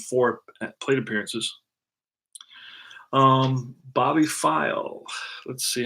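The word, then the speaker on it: Pfeil: get it Bobby five Bobby file that's how you pronounce his name PF e IL bobby file and this is his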